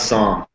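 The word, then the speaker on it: Saam: It's Sam. It's S-A-A-M. Spoken like the Bible, but pronounced it.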